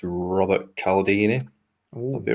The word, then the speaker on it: Cialdini: His surname is spelled Cialdini. So it's Robert Cialdini.